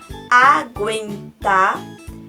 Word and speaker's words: aguentar: Mas, se eu pronuncio a palavra aguentar, eu não tenho um dígrafo, porque eu pronuncio U.